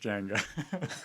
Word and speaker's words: Jaenga: So And you pronounce it Jaenga. And nobody says my name right. It's so annoying. No, it is pronounced Jenga.